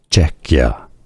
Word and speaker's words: Czechia: Czechia. Czechia. Czechia. Stress on the first syllable.